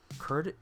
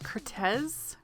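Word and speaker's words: Curtiz: was directed by michael curtis i think you say his last name curtis cortez curtis it ends with a z yeah we're gonna say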